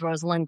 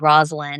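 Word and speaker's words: Rosalynn: mean I really loved Rosalyn Carter meeting her. It was just a fascinating experience because people still mispronounced her name long after she had left the White House and said Roslin and it really got to her.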